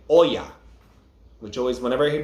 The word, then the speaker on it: Oya: uh so it's not oya it's when you're saying oh yeah you're putting emphasis on the o not on the a so it's correctly um